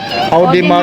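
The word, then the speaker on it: Audemars: Anong pronunciation dyan? Audimar.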